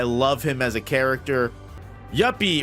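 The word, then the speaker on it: Youpi: him as a character yepy or as everyone so incorrectly pronounces him yuppi yep is a cool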